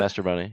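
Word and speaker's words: Mastrobuoni: And so I mean, whenever I see Mashaboni, is that how you pronounce it? Mastroboni, yeah.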